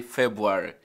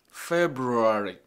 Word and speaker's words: February: For instance, it is not what many of us call it, February. Is that not what we say? We say February. February. Once you say February, which is wrong in terms of pronunciation, you are also likely to miss the spelling of the word. It's supposed to be something like February. February.